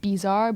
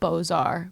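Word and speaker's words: Beaux-Arts: see them and so I always say like bizarre but it's bozar but it's just hard to say.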